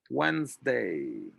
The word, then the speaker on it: Wednesday: also sometimes causes confusion it's almost as if you were pronouncing it like this once day wednesday and then for the